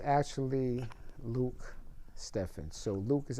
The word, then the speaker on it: Luc Stephen: His Luke Stevens, you I mean, director, please let me I want to say I I'm glad you cleared it up for me.